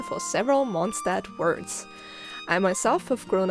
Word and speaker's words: Mondstadt: the main city itself monstart most people call it monstart which is a very good example of how english speakers adjust german words to their style of speaking in german we use